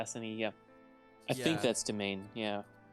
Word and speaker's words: demesne: I think that's domain, yeah. Like, judging based off of the, like, phonetic pronunciation guide under it, it's domain.